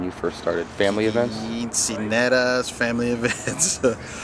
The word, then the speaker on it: quinceañera: Right now I'm doing a lot of corporate weddings, quinceañeras. That's where you got started. Let me pronounce that correctly for everyone. Quinceañera.